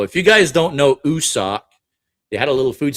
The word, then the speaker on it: Usoc: I said, you suck. You suck. God damn it. He says, it's you. He's like, it's Usoc.